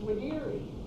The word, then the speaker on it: videri: Yes, that's videri. I studied Latin. You pronounce the V as a W.